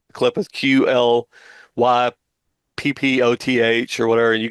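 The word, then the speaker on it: Qliphoth: Some people pronounce it the Kelopot, but I know it as the Clippeth, Qlyppoth or whatever.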